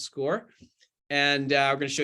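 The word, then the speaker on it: SCOIR: uh show you the highlights of our program our database that's called score which is spelled s-c-o-i-r the kids like to call it Squire but it's actually pronounced score and I'm going to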